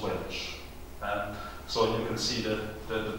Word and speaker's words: Walsh: And the same with Walsh. My own mother was Walsh, but it was always pronounced Welsh.